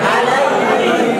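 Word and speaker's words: عليهم: কে রস্বীকার দিয়ে হি ম হিম হিম হিম উচ্চারণ আলাইহিম আলাইহিম আলাইহিম আবার বানান হিম অকে আকার দিয়ে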